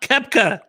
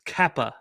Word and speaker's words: Koepka: It's not Koepka. It's Kappa. Cappuccino. Put a kappa in that. Put a kappa in that ass.